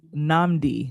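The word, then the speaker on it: Nnamdi: And then also Nambi Asaman, the knife, and I have to say it's Namdi. Namdi, that's how you pronounce his first name.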